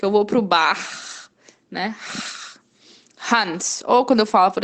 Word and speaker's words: Hans: Hans é um nome de uma pessoa, Hans. Então, o H no início da sílaba, ela vai ter esse sonzinho de esse R, que é o nosso R normal de muitos brasileiros, sem vibrar.